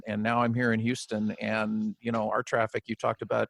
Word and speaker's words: Houston: literally is you know i believe it's houston not houston and it is houston yes yes for sure